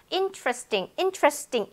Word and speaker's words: interesting: 여기서는 지금 이 이가 소리가 나지 않아요. 그래서 철자에는 있지만 발음은 true. 그래서 interesting처럼 들리고 있다는 거예요.